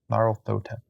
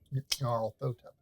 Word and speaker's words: Nyarlathotep: Nyarlathotep. It's the Y in there. Like I want to pronounce the Y, but it apparently isn't pronounced. And I'm out of power. No, it's pronounced very subtle. Okay. Nyarlathotep.